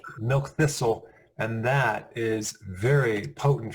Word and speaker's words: milk thistle: Milk twister, I never pronounce correctly. Milk thistle, and that is very potent for the liver cells.